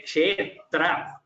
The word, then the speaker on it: क्षेत्र: For example, here bhavat kshetra, you say kshetra. The tra is just tra. You could have said kshetra, but it is almost like there are two tas there, and then there is a ra. It is somewhat, the pronunciation comes like that. That is how we pronounce bhavat kshetra.